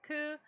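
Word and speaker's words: 九: Another unlucky number is in Japan is the number 9, pronounced ku.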